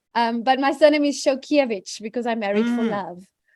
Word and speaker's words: Szolkeiwicz: I like it um but my surname is show kievich because I'm married for love and that is